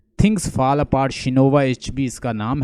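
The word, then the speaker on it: Chinua Achebe: Things fall apart, शिनोवा एचबी इसका नाम है। अक्सर लोग इसको चिनोवा एचबी कहते हैं, लेकिन असल इसकी प्रोनाउंसिएशन मैंने देखी है शिनोवा एचबी।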